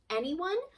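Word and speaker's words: NeOne: And it's a technology that ends up becoming Anyone, but it's spelled N-E-O-N-E, like N-E-1.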